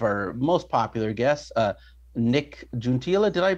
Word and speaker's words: Juntilla: Today, we have bringing back one of our most popular guests, Nick Juntilla. Did I pronounce last name correct?